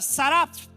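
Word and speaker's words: seraph: Acima dele existia serafins, que no hebraico se pronuncia saraf.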